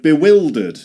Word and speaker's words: bewildered: And you've got to pretend it's spelled like this be will. And here you can dud. You can say, you can pretend it's spelled like this. Bewildered. Bewildered. Like the verb, the auxiliary ver the auxiliary verb will.